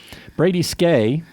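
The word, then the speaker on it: Skjei: addition Brady SK uh which took me a while to figure out how to pronounce skj eii an American by the way uh never guess either of those things but Brady skay uh another big acquisition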